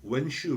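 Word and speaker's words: 文绣: 있는 거죠 두 번째는 이 사람은 문수 웬 슈 라고 발음을 하는데 후 분입니다 원래 이제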